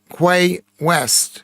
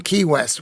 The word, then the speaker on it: Key West: Quay West, or Key West, in Key West. Well, we would call it Key, K-E-W, because it's spelled properly.